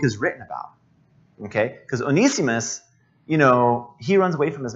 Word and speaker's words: Onesimus: Onesimus. Abuna, is that the right way to pronounce it? Can we? Okay, Onesimus.